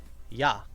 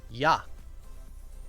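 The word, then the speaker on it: 矢: the romanized uh yeah usually this this is pronounced uh yah oops that was a weird a yah is how you say Arrow this is normally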